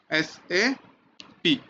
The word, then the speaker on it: SAP: Correct pronunciation is SAP।